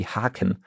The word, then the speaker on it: Haken: So here, if a long A, a longer A, because you say Haken, which is just a single K.